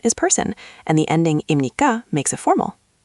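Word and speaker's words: 입니까: Second, imnikka is pronounced close to imnikka. Again, smooth and quick. That helps. I was saying ipnikka very slowly.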